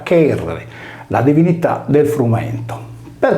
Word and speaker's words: Cerere: A detta di Pseudo-Apollodoro, perciò, gli egizi associarono Iside a Cerere, pronunciata Cherere, la divinità del frumento.